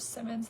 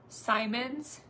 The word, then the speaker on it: Simmons: spell your name wrong people mispronounce my last name all the time instead of Simmons they say Simons yeah there's two M's you know like M&M's hey Cassandra um when